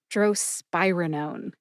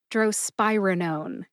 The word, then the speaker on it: drospirenone: Drospirenone. Emphasize SPYE. See if you can hear the emphasis when I say it again. Drospirenone. Drospirenone.